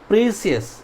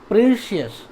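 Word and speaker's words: precious: अब हम लोग आते हैं नेक्स्ट, सी का किसी किसी वर्ड में श प्रोनाउंस किया जाता है। जैसे एग्जाम्पल में मजिशियन, ठीक है। फिर ऑफिशियल, प्रीसियस, ठीक है, प्रीशियस, बात समझ में आ रही।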